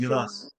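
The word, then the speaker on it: گیلاس: गिलास चेरीज, गिलास। यस यस, इसको गिलास बोलते हैं, गिलास। गिलास, हाँ अच्छा। गिलास मतलब गिलास जो होता है पीने वाला, उसी तरह का प्रोनाउंस करना है उसको।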